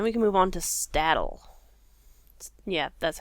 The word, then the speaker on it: Staddle: Hopefully, I finish Combe, and then we can move on to Staddle. Yeah, that's how you pronounce it. Staddle. Like saddle, but with the random T in there.